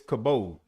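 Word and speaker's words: כבוד: It's kabod. It's spelled kaf bayet daulet.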